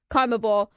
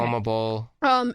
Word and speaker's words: CONMEBOL: that organized Copa America, CONMEBOL, that's how you pronounce it, right? Yeah, Okay. CONMEBOL.